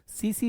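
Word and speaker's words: tsetse: है देखिए एनाफिलीज मच्छर सीसी मक्खी यानी कि ये लिखा हुआ है जापानी शब्द है तो टी को साइलेंट रखेंगे सीसी मक्खी बोलते हैं इसको क्या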